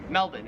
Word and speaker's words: Melbourne: it wouldn't matter because the Australian accent just leaves the r off if it's ever in the last syllable of a word so you would pronounce